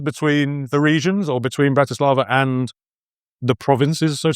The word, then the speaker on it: Bratislava: because I've been taught my teacher was always the the first syllables like Bratislava you need always a first syllable.